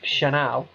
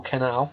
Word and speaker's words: Canal: Well, it is kind of, but anyway, Space Ghost Productions and studio Chanel or Canal, depending on how you want to pronounce it, are teaming up to release a board game based on 1987's Evil Dead 2.